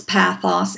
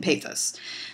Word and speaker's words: pathos: and that is that the Greek language way of saying these is ethos, pathos, and logos. However, it's perfectly acceptable to say ethos, logos, and pathos.